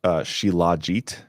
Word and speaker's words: shilajit: so the chat is telling me it's sh shilajit ah and but here's my thing if you're